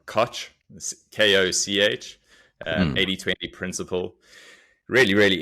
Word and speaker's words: Koch: I would pronounce it Koch, but I think it's Koch, Koch, Mm, 80/20 principle.